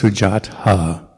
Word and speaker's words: Sujata: However, TH as in anthill or sujata, never as in they. So as far as I know in Pali, there's no TH sound like the. So just remember it's sujata and other.